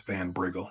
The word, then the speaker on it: Van Briggle: I think it's Van Briggle. That's how you say it.